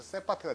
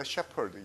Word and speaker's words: shepherd: 근데 우리나라에서 이게 발음이 어떻게 돼요? 경험에서 세파트가 되죠. 우리 집게 세파트야. 그렇죠? 세파트가 아니라 원래 shepherd, 양치기라는 뜻이에요.